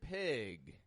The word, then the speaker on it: pig: to point out is notice how I stretch out the eye in the word pig pig it's not like the e in beef but it's an e Pig what we call